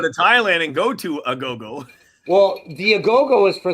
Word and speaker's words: agogo: I can't believe I own 3 Agogos. So this is an Agogo. It's spelled A-G-O-G-O, a go-go.